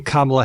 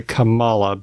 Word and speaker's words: Kamala: are Republicans still botching kamla Harris's name I'm going to make a confession here I might get this wrong every once in a while I might say it wrong and say Camala because I I'm not